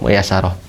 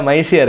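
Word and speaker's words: ميسرة: al-harbi ya kitab albalagah muyasarah dan dibacanya harus muyasarah jangan dibaca maisir ya kalau dibaca maisir itu beda artinya ya kalau dibacanya muyasar itu artinya mudah ya balagoh yang dimudahkan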